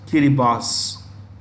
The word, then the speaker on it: Kiribati: year boss in their local Basha it is pronounced kiribas Kiribati see this country is set to exist